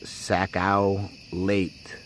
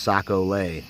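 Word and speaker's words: sac-à-lait: In Louisiana, it's Saco Late. Pronounced Saco Lay.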